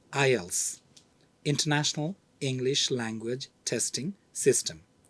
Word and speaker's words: IELTS: Mentor podcast series topic I TS which is pronounced as ILS International English language testing